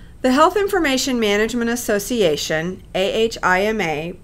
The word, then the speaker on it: AHIMA: The Health Information Management Association, AHIMA, pronounced AHIMA, identifies several types of inconsistencies and quality issues that can occur when data are captured and stored.